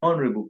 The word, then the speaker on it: honorable: not honor no honor so if one is referred to as an honorable person honorable is without the the letter H also it is Honorable